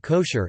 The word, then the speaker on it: kosher: Food that may be consumed according to halakha law is termed kosher in English, from the Ashkenazi pronunciation of the Hebrew term kasher, kasher meaning fit.